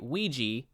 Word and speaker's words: Ouija: this debuted at number two it made 14 mil in in one weekend beat out just by ouija which opened that weekend as well oh yeah